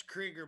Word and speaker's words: Krieger: you go ahead doug it is krieger by the way i know he prefers it that way and he actually he he pronounces it right i'm the one that pronounces it wrong but it the only